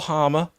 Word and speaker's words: Hamer: stop telling people that Gus Hamer or Hamer. Both are fine. Okay. I don't mind. He's actually confused us with how you say it, and commentators tend to mix it up.